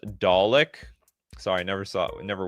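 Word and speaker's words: Dalek: It's pronounced Dollick.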